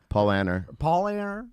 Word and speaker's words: Paulaner: Paulaner. Okay, sorry. Paulana.